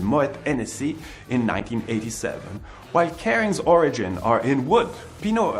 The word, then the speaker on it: Kering: It is pronounced the same as Kering, but also plays with the origin of the business in Brittany, the northern region of France.